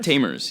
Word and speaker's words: Tamers: pronounce your last name it's julian taymor tamers yeah it's just how it's spelled yeah it's like a um it's not um i think it was originally tom rez is the origin of the name it's like a polish